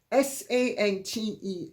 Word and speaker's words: Sante: Sante, accent on the X, on the E, Kimes, Kimes.